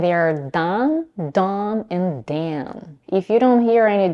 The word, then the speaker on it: Dan: To pronounce the vowel, drop your jaw, keep the tip of the tongue behind the lower teeth, the back of the tongue pushes forward. Dan, Dan.